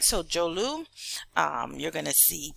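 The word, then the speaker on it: Dzorwulu: jolu this DZ o r Wu Lu is pronounced jolu all right so jolu um you're going to see places like North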